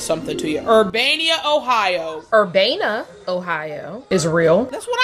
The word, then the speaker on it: Urbana: Urbana, Ohio is. Okay, are you pronouncing it Urbana or? There's no I in the city's name.